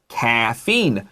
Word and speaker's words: caffeine: So we have caffeine, and caffeine sounds like cafe, but don't confuse it with coffee.